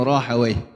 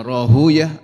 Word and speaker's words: Rahawayh: Ishaq yakni Ibnu Rahawayh. Ada juga yang membacanya Rahuyah, ada yang Rahawayh.